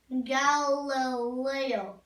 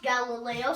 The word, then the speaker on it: Galileo: me just say scientists um you they was Galileo no it's pronounced Galileo so let me just write it the way